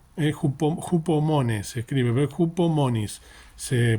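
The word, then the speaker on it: ὑπομονή: Se escribe con H, hupomones se escribe, pero hupomonis se pronuncia, que es una palabra que significa perseverancia,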